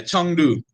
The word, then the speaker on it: Chengdu: You said that you're in Chengdu. Is that how you pronounce it? Yeah, Chengdu.